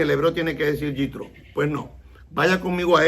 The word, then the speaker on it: Yitro: lo conocemos y en hebreo lo conocemos como yitro ese es el nombre de este personaje que